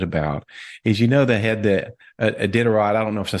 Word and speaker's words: Iditarod: wife's most excited about is, they had the Iditarod. I don't know if I said that right. The dog sleds. Iditarod.